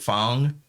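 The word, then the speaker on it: F.A.N.G: bong was another one f-a-n-g and it has like but they pronounce it phong is he he's the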